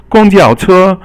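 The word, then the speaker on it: 公交车: And then, okay, the next one is 公交车. 公交车 is all first tone, and it's a little easier to say than 公共汽车.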